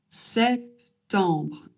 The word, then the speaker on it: septembre: Et on prononce re à la fin parce que au cas où vous ne l'auriez pas remarqué, c'est pas e r mais r e donc re et non pas. Donc on prononce septembre.